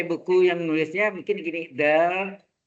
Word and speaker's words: del: Apakah del? Dibacanya del ya.